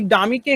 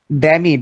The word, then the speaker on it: dummy: এই ডামিকে কেউ কেউ একটু বিকৃত রূপে অন্য একটা ভাষা বলে, বলো তো কি বলে? ড্যামি। ইয়েস, ইয়েস। তাহলে সঠিক প্রোনাউন্সিয়েশনটা কি হবে? ডামি। This is DUMMY, ডামি।